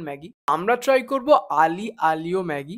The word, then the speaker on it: aglio: আমরা ট্রাই করবো আলি আলিও ম্যাগি তো আমি নিজেও ফাস্টে জানতাম যেটা আগলি আলিও ম্যাগি কিন্তু একটু রিসার্চ করলাম তারপর জানতে পারলাম এটা আলি আলিও বলে কি যায় আসে